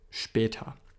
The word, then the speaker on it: später: It's not a s like in English. So bis später, especially when the S is at the first position there in the sentence, when it's the first letter, it'll be pronounced as a sh normally. Bis später.